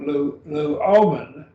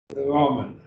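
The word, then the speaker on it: λύομεν: In this case, now we have luomen. So this has three syllables. And I'll move my mouse around. We have lu, that's your first syllable, o, and then men, luomen.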